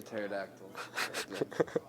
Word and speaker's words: pterodactyl: No, it's just because the P is silent. The pterodactyl.